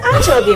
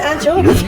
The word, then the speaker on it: Anchovy: And Muslim Junior, people on that side they pronounce that way because we don't say anchovy. We say anchovy.